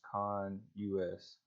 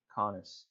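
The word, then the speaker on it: CONUS: this as con us conness and that's not the right way to say it but if you don't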